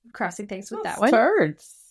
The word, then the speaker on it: Terdz: Turds. It's TERDZ, but like same pronunciation.